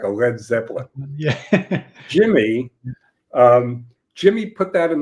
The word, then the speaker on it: Led Zeppelin: To give it, first of all, Peter Grant, their manager, thought people would pronounce it Lead Zeppelin. They would mispronounce it. But also, it gave it a bit of an edge. Led Zeppelin.